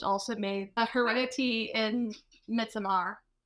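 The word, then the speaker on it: Midsommar: made the Heredity in Midsomar, which are great horror movies. Thank you. You said it the way it's supposed to be pronounced. Midsummer.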